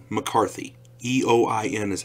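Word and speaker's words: Eoin: don't try to get those name right hey Owen McCarthy ye oin is how you pronounce it I use Bella's name god I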